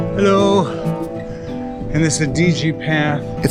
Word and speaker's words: Adige: And this is the Adige path. It's actually pronounced Adige.